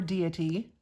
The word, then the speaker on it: deity: here she is tala Daddy of the stars or deity depending on how you like to pronounce it but anyway this is